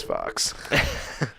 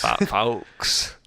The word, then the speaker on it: Fawkes: Yeah, they're gonna get over the fact his name is Fox. It's like it's spelled Fawkes or something. Doesn't matter. Yeah, you're right. It's like Fox. Fawkes. Fawkes.